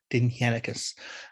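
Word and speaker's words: Dindshenchas: Now that is spelled Dindschencas, but it's pronounced Dinhenicus.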